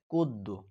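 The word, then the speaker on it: القدوس: আবার, হু আল্লাহুল্লাযী লা ইলাহা ইল্লাহু আল মালিকুল কুদ্দু, এখানে অনেকে বলে কুদ্দু, কিন্তু এখানে হবে কুদ্দু, কারণ কফ শব্দটি হচ্ছে কলকলার শব্দ।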